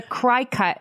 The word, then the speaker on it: Cricut: the rules of phonics, cry cut is how you pronounce that collection of letters.